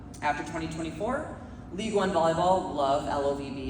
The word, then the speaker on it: LOVB: Um after 2024, League One Volleyball, LOVB, it's pronounced like love, not love beer or anything like that.